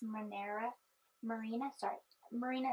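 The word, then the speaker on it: Mirena: Marina is, I think, how you pronounce it.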